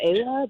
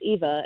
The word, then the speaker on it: Ewa: So I've been calling her Ava, but I think it's Eva. It's just the way it's spelled.